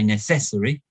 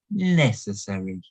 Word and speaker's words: necessary: look here's a necessary this is a word which has four syllables necessary we put the stress on the first syllable we don't say necessary we don't say necessary we don't say necessary we say necessary again with this one